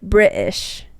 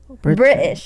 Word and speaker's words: British: I would, because how I used to, like British in a British accent to me is like British, you know? British. You don't pronounce the T.